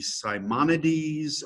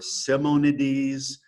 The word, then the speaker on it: Simonides: It's Simonides. I guess it could be Simonides or Simonides. I'll probably pronounce it Simonides.